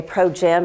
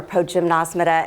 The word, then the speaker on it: Progymnasmata: schooling the pronunciation i i know some people say pro-gym or pro-gymnosmita and so this is just one thing i thought i'd quickly touch on the eileen cunningham the teacher who wrote our curriculum did a lot of research before she wrote her book into the pronunciation and she came up with pro-gim so that's how we've been saying it i don't know which one is correct i may say potato